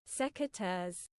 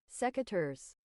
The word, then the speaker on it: secateurs: Pronunciation. This is just from Google. Secateurs. Okay. Secateurs.